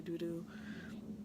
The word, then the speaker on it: Dodo: I say Dodo, people say Doodoo.